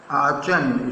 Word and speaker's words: Aachen: I was sent to AACHEN, आचन, इसका pronunciation आचन।